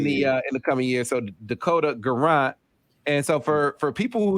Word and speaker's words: Guerrant: Am I saying your last name right, Dakota? Dakota Guerrant? No, you're not saying it right. It's Guerrant.